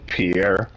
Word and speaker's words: Pierre: No, he's saying Pierre. Pierre, like okay, a French name, like Pierre.